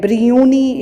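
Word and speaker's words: Biruni: Now this Muhammad of Ghazni, Sultan, he had a very famous scholar named Brinyuni, it is pronounced as.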